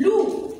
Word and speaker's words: loup: L avec OU, ça donne loup. Le P, elle est muette. Alors, je vais entourer les lettres muettes. Le P, ça ne se prononce pas.